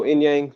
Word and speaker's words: Inyang: part of it oh inyang the way it looks inyang okay yeah yeah I